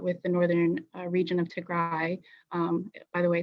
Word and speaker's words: Tigray: ethiopia didn't start with the northern region of tegra by the way it's called it's pronounced not tigre attacking the northern command this is a narrative